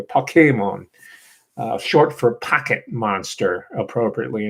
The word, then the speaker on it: Pokémon: It's the accent on the second syllable by the way, Pokémon.